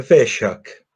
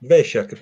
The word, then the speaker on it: Vesak: c'è chi dice Vesak, c'è chi dice Vesak, invece no, tu mi dici che La pronuncia giusta è Veshak. Vesak. Veshak perché è il nome